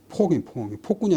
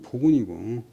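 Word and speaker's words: 暴君: 소노의 포악함이, 포악하다 때는 본래 발음은 폭군이 아니고 포군이고, 폭력이 아니고 포력이에요.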